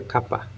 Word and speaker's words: Kapha: A pronúncia mais correta seria capa. Mas eu falo capa porque é muito comum falar capa. Então. Mas pode falar capa ou cafa, como faz.